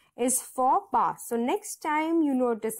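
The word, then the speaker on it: faux pas: for which means that the X and the S are silent both these letters are silent because it is a French phrase so you need to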